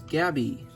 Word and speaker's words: Gabby: This figure is Gabby. I'm not going to say her name twice. That is the proper way to say it. You say Gabby twice, but I just don't like saying that for some reason.